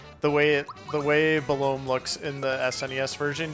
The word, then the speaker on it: Belome: And this, how do you pronounce this boss? Belome. Okay, it's same as me. I also say Belome. I've heard people say below me. Like the sandwich meat.